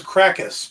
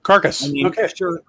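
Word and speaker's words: Karkas: one i'm thinking of i always thought it was krakus but it could be carcass it is k-a-r-k-a-s so carcass sure he could be krakus if you disregard spelling conventions and pronunciation conventions yeah andrew makes a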